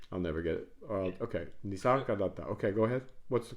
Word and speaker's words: Nisargadatta: Nisargadatta. Okay, cool. Nisargadatta. Yeah. I'll never get it. Okay. Nisargadatta.